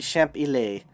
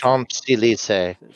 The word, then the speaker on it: Champs-Élysées: He placed 3 machines in a storefront on the Champs-Élysées, or Elise, I don't know how to pronounce it. Champs-Élysées.